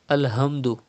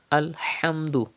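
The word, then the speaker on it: الحمد: word alhamdulillah it is alhamdu pronounce from the middle part of your throat do not say alhamdu it's not alhamdu but it is alhamdu and then you have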